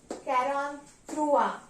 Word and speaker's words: quarante-trois: 43 is pronounced as quarante-trois. Quarante-trois means 40 and 3.